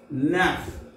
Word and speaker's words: neuf: H U IT with HUIT with 9 NEUF NAF NEUF NAF and 10 DIX this 10 DIX this.